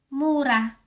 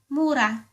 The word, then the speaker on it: mura: If you mean cheap or curse, it is pronounced the same, Mura. Mura. But if you mean the young, immature fruit of a plant, the word is pronounced Mura.